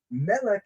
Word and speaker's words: Melech: Melech is how we say king. Malach is an angel.